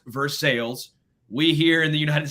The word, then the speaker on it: Versailles: Versailles. Our tour guide, great dude, big old beard, without Woodford Reserve, right? And he goes, it's pronounced Versailles.